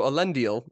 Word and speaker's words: Elendil: do you get that reference so yes so elendil um correct your pronunciation there elendil of course is is the